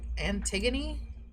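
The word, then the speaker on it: Antigone: Anti Antiggony, right? Antiggony. Yeah, it's pronounced antiggony.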